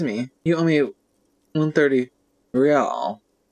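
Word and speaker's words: réal: you owe me 130 real he pronounces the r with a mock aristocratic accent encyclopedia trio success the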